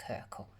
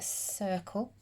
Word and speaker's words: circle: here says circle now it's got a soft c at the beginning that's why it looks a bit like kirkl so a circle has got one curved